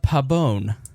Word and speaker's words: Pabon: say your last name I feel like I say it too white yeah probably pretend there's an e at the end Alina Pabon yeah there you go